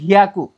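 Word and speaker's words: ひゃく: একটা হচ্ছে হিয়াকু, দেখতে পাচ্ছেন এখানে যুক্ত বর্ণের হিয়া আর হচ্ছে খু। হিয়াকু অর্থ হচ্ছে 100 মানে 100।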